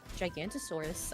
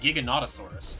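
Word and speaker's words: Giganotosaurus: Gigantosaurus. I like that name. That's pretty cool. I think it's Is it is it I think it's pronounced Giganotasaurus, correct?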